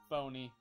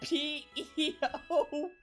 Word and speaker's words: Peony: And we're back playing Shield, where we're gonna heal our Pokemon after we talk to Phony. It's a phony! A big fat phony! His name is spelled P-E-O-N-Y. Peony.